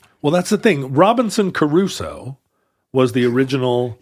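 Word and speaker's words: Crusoe: that's the thing Robinson Caruso was the original you're saying it the the Gilligan Island Way Robinson Caruso three syllables Robinson Caruso that's how we said it in in my Colonial schools because you had Gilligan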